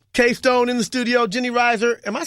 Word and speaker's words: Risher: Nick Speed, K-Stone in the studio, Jenny Risher. Am I saying the name wrong?